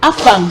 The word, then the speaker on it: afang: native way of pronunciation you cannot pronounce afang like afang it's not going to work like it's not going to work it must be afang soup call it the way